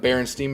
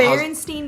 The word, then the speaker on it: Berenstain: And that just comes down to, upbringing, where you are, like the Berenstein Bears. How is it actually That's the one pronounced? I will Berenstain? fight you about. It is How's- Berenstein Bears, and I will fight you.